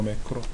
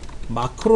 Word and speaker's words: 매크로: 설명을 합니다 아 매크로 매크로 마크로 라고도 얘기할 마크로 음 근데 우리 엑셀에서는 매크로 라고 표현 하구요 다른 프로그램이 언어에서는 마크로 라고 얘기해 매크로 마크로 뭐 발음이 그런거니까 말수 업로드하고 이건 뭐냐면